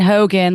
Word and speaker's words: Hogan: And Hogan, like Hulk Hogan.